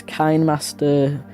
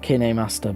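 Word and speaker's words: KineMaster: Even though now I'm trying to get better at my videos, but I'm sick of this Kind Master watermark, but in a way I like it because it's kind of a sponsor.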